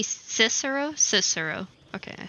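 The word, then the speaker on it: Cicero: sir C cero cero cero cero C cisero cisero okay I said it right the first time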